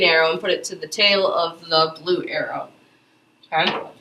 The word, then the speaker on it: theta: This right here, I don't remember if I mentioned it, this is pronounced theta.